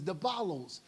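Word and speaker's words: διάβολος: been done that's why the word devil in the Greek means it's the pronunciation is debal to cast oneself in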